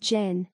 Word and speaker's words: Chan: In Chan, pronounced Zhen, or Zen literature, the term empty